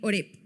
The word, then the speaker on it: Horeb: El agua de la roca en Horeb, así se pronuncia.